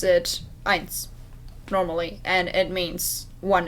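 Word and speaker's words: Ainz: gonna is is answered so just call him eins then if you spell it with an e instead of an a you still like just pronounce it eins normally and it means one in german so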